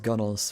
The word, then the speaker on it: gunwale: I think it's pronounced gunnels for some reason.